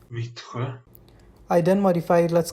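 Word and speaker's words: Vittsjö: According to Google, it's pronounced Vitre.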